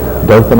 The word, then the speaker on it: Dothan: and his news break on CBS when he pronounced Our Town correctly Doan Alabama we welcome you Mr President it's